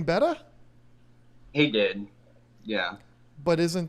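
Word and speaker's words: betta: at the pet store how do you pronounce the name of that fish well the better you say better okay see what I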